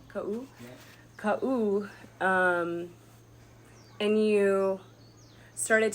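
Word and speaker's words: Kaʻū: Ka'u. Ka'u.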